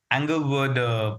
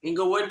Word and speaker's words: Englewood: Club podcast series we have the superintendent of Anglewood Public Schools. Did I pronounce that right? Inglewood public school district.